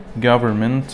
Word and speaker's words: government: government الحكومة إن لا تلفظ.